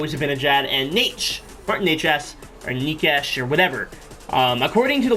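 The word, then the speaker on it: Nečas: According to the website, if you go on the Carolina Hurricanes website, it's pronounced Necas. So that's how I go, even though I'm pretty sure that's very, very incorrect.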